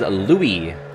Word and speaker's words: Louis: That is Louis. Not with an S. I've seen it spelled with an S, like Lewis.